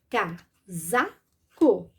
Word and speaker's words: casaco: com som de z uma outra palavra onde isso se repete é casaco nessa palavrinha eu vou também pronunciar o s com som de z porque porque ele está entre duas vogais entre duas vogais coloco s e pronuncio como Z casaco co casaco casaco